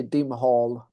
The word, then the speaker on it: Dimhall: because I they say dimhal but uh we we say it like dimhal dimhal uh but you can say dim hall or the both uh both uh pronunciations are it works either way.